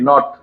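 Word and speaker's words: knot: টি নট আরেকটা হলো কে এন ও টি নট তাই না হ্যাঁ আবার এই যে এটার উচ্চারণ কি নাইট নাইট আবার যদি লিখি এন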